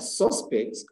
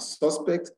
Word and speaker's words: suspect: the second syllable stress the third word is a suspect and suspects a suspect and to suspect now the first one is a noun with the first syllable straight and the second one is a verb with the second syllable stressed the fourth rule is